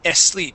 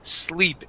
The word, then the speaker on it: sleep: sleep you would said asleep he will asleep so let's focus on only that s he will sleep in try that please he